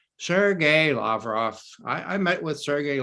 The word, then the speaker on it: Lavrov: Sergei Lavrov. I met with Sergei Lavrov, and Lavrov said this to me, Lavrov.